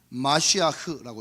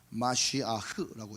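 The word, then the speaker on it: מָשִׁיחַ: 여러분,이 메시아는 영어식으로 발음한 것이고 원래 저 히브리어는 마시아흐라고 있습니다. 네. 오른쪽에서 왼쪽으로 읽어요. 마쉬아흐라고 읽습니다. 마시아흐. 네.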